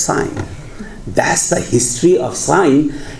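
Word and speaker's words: sine: And we did not want to pronounce it as sin. So we decided to call it as sign.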